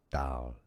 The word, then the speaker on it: dal: Let's start to learn how to pronounce it correctly. First word is dal.